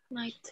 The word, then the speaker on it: night: Night. 8, night, night. Oke. Jadi cara bacanya ini GH-nya nggak dibaca, coba teman-teman. Ini GH-nya jangan dibaca. Jadi bacanya adalah 8, night, sama tight.